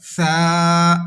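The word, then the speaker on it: ث: Even then, some people pronounce this letter with whistle sound, so that is not correct. Okay, so remember this thing. Tha will be read without whistle sound.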